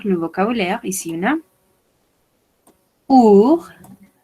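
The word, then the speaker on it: ours: Ici, on a our, on ne prononce pas le S. Our.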